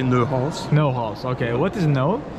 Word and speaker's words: Neuhaus: In French we say Neuhaus.